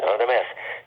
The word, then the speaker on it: Radames: And invited the director over for dinner party with some other friends and stuff, and told me specifically, now, Radames, this is a Russian pronunciation, Radames, you should be upstairs,